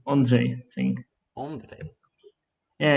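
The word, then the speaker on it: Ondřej: Is that the right pronunciation, by the way? Nearly perfect. It's Ah, like Ondrej, I think. Ondrej.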